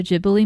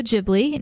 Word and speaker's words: Ghibli: And it is, according to Google, pronounced Studio Ghibli, not Ghibli. And I will probably forget this by the next time I watch another Studio Ghibli film. So I will have to look it up again. But technically it is with the soft G and not the hard G.